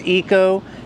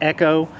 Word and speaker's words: Echo: Sometimes I call it Eco or Echo, Echo, but it's Echo.